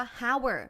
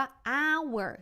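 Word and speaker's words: hour: แอ น นา เวอร์ คำ ว่า เอา เอ้อ ไม่ ได้ อ่าน ว่า ฮาวเวอร์ แบบ ที่ เรา เห็น เขา อ่าน ว่า อ้าว เออ เสียง ออก อ่าง นะ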